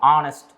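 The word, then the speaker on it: honest: ஹானஸ்ட், இது எதில் start ஆகுதுன்னு பாருங்கள். ஹச்சில் தான் ஸ்டார்ட் ஆகுது. ஆனால் நம்ம என்ன சொல்லுவோம்? ஆனஸ்ட். ஸோ வவ்வலுடைய சவுண்டில் தான் அது உச்சரிப்பாகும்.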